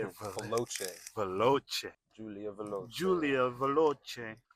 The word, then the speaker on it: Veloce: Veloce.